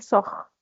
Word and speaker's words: sort: Je sors, tu sors, il sort. On ne prononce pas le T.